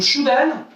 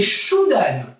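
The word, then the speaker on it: chudan: À la poitrine, donc Shudan, d'accord? Ça s'écrit C-H-U-D-A-N. Le U se prononce OU, d'accord? Comme dans hibou. Hein? Donc c'est Shudan.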